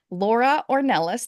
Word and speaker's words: Laura Ornelas: I am thrilled to have with me today Laura or Nellis did I pronounce it right Laura yes okay okay good